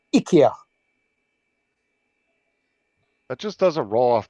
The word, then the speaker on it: IKEA: Ikea wanted it pronouncing Ika that just doesn't roll off the tongue like Ikea does it doesn't Ika yeah that just that doesn't sound right but it is the way it's pronounced in Sweden so well we're not